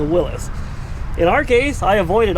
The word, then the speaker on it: Willys: talk about the pronunciation i've always known it as a willy sheep but apparently his pronunciation the actual guy is willis so uh i apologize to everybody who also thought it was willy's it's incorrect it's a willis in our case i